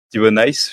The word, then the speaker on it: Thibau Nys: Alors moi, je vais vous présenter un jeune coureur de la Lidl Trek, Thibaut Nice, Thibaut Nice, je crois qu'on prononce plutôt.